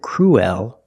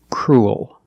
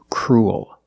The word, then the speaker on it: cruel: Crew, linking it to a dark L, cruel. It sounds like pool and cool. You have the long oo sound followed by the dark L. Pool, cool, and this word is cruel.